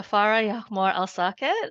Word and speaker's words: Farah El Saket: please give it up for our lovely sister far Yore alake I'm hoping I said your name correctly far